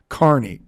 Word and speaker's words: Carney: write Kaa he writes Carney K he writes c a r NE y Carney which makes it sound like he works in an amusement park but that's how he's pronouncing it he was sent by